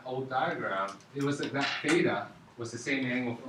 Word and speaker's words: theta: Theta. It's pronounced theta.